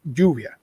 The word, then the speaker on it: lluvia: For example, rain is lluvia, and that's spelled double L. So you pronounce it with a hard pronunciation like lluvia. Are you saying like with an English J, Juvia?